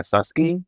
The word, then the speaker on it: Susquehanna: I always think like, right, when I was growing up in Fishtown, most people would call Susquehanna Susky, like the street Susquehanna Susky.